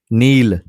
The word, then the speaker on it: know: तो यहाँ इस एन से पहले के है तो के साइलेंट होगा।